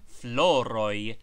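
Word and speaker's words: floroj: floro floro flowers floro remember that floro is pronounced as if spelled f l o r o y the objective case the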